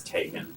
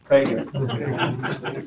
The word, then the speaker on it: Tegan: Just for the record, it's Tegan. Teagan. I usually just wince when it's pronounced Yes, wrong.